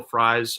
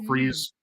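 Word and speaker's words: Fries: is one offensive guard will fres or will freeze I think it's pronounced from Indianapolis uh he's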